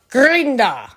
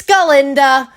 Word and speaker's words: Galinda: Alaba and alaba's like and then he's like Glinda and then glinda's like um it's galinda go G ginda and then he goesa he